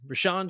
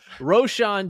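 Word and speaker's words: Roschon: backfield for the Bears ran Johnson got why did I pronounce it like that ran rashan Roshan Johnson got 75% of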